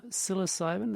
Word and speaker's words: psilocybin: Yeah, no, sort of psilocybin, that's how you say it, isn't it?